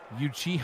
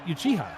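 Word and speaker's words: Uchiha: The corners Rick Itachi Yuchi. I don't know if I'm saying that one right. That is exactly how you say it. Trey Deuce is the free safety. Yeah, he you chiha, right?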